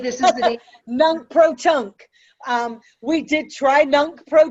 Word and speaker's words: nunc pro tunc: in the past, even though we did try nunc pro tunc.